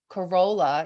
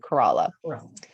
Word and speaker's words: Corolla: so we learned that it's not corolla even though it's spelled that way we stayed in the town of kerala in the outer banks